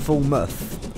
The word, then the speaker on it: Falmouth: doesn't sound good uh the Falmouth branch is pronounced as Falmouth Falmouth all right so I pronounce I pronounced it